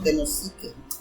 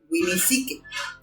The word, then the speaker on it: Tenosique: de Mi Amado Redención, le decían Winisique, porque él no podía pronunciar Tenosique.